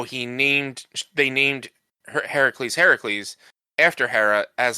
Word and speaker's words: Heracles: I've talked about this how Hercules is actually he supposed to be pronounced Heracles because he was named after Hera because Hercules Heracles mom